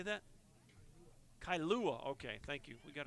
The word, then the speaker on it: Kailua: Kailua, Hawaii. I don't know if I said that right, but he steps in, takes ball 1. How do you say that? Kailua.